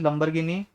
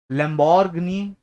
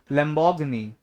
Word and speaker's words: Lamborghini: Anyone hair जिसको यहाँ पे लगता हो ये लास्ट वर्ड लिखा है लंबरगिनी? नहीं हो सकता है ना, मतलब लंबरगिनी चलाई. किसको लगता है लास्ट वर्ड लिखा है लंबरगिनी? लैम्बोर्गिनी.